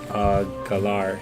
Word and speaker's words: Galar: Galar, that's how you say it.